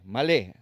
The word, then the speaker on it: malé: usa la palabra hebrea malé, M-A-L, acento en la E, malé.